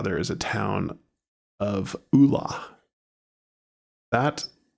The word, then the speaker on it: Ola: but in Arkansas, there is a town of Ola. That it's spelled O L A, but it's pronounced Ola.